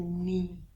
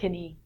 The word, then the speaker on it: knee: So the joint that moves your leg in the middle is a knee, not knee. Looks like knee.